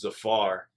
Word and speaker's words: Zafar: His name's Zafar. Rhymes with Jafar.